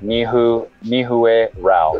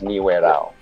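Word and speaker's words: Nihuarao: say it in english it would be like mihu mihue rao but it's pronounced ni whereau and it's n-i-h-u-u-a-r-a-o i'm sorry n-i-h-u-e-r-a-l and they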